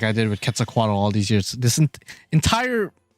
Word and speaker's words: Quetzalcoatl: quetzalcoatl was actually pronounced quetzalcoatl did not know that until one of my friends who took a class learning about her told me that yeah it's actually pronounced quetzalcoatl not total and i was like